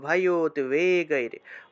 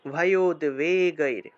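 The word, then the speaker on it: ভয়োদ্বেগৈঃ: হর্ষ মর্ষ ভয়োদ্বেগৈর, ভয়োদ্বেগৈর, যে ভয়োদ্বেগৈর, এই শব্দটাকে এইভাবে ভয়োদ্বেগৈর উচ্চারণ করতে হবে।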